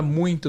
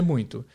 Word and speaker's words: muito: o E aí como que ele vai pronunciar essa palavra ele vai para não ser muito muito é muito porque que ele vai para anunciar muito ao invés de muito porque esse som de m depois do i não tá